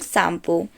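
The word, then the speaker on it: Tsangpo: कार्यक्रम संयोजिका या अलग शैंपू तो फ्रेंड्स यहां पर टीम साइलेंट होता है तो चाइना में ब्रह्मपुत्र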